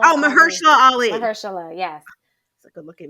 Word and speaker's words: Mahershala Ali: It was Julia Roberts, Ethan Hawke, and then Oh Chweat yes, I butchered his Mahershala name. Mashallah Oh, Ali. Mahershala Ali.